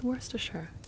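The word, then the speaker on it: Worcestershire: You left off part of the word though, Luna. It's worsture. It's got like the word sh on the end.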